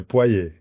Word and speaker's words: Poyt: Nosso amigo Paiô, pronunciei certo? É Poê, Poê, né?